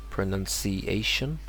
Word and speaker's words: pronunciation: It would be pronunciation, and a very common word that you would need to know.